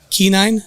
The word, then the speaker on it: quinine: Quinine?